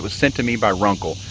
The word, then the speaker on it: RUNCL: sent to me by runkle i believe i'm pronouncing that correctly it's r-u-n-c-l's the name of the company runkle and it is a